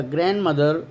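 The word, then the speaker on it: grandmother: ग्रैंड माँ या ग्रैंड मदर, डी नहीं आता इसमें, तो उच्चारण में बता चुका हूँ आपको।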